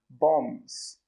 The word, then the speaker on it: bomb: So an example sentence as a noun could be, they are dropping bombs.